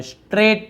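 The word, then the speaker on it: straight: फिर देखिए stand स्ट्रेट, सीधे खड़े हो जाओ, स्ट्रेट पढ़ते हैं, ठीक है, जी साइलेंट होता है, स्ट्रेट यानी होता है सीधा।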